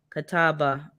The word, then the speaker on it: Catawba: about is that a seedless a grapevine yeah Catawba as that's how you pronounce it okay let me screenshot this because